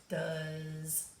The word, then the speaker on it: does: look like they sound this looks like the word doze but it's really sounds like does is that it's not